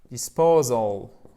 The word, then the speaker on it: disposal: Par exemple, l'élimination des déchets, c'est waste disposal. OK? Waste disposal. Ah, maintenant, vous avez compris. Accent tonique, il est là. C'est une diphtongue, ausal. Et ici, vous avez un I court.